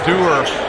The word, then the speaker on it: Dewar: And Cooper Dewar. I think it may be pronounced Durr.